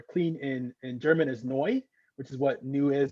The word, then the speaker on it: neu: in german um but with the phonetic sounds it sounds like new which was again very